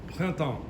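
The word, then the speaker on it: Printemps: horrified by my pronunciation but um Chris actually pronounces it amazing oh what's here planton we put him on the spot he delivered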